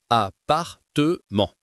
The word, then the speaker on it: appartement: Dans appartement, le double P ne change rien à la prononciation. On dit simplement appartement.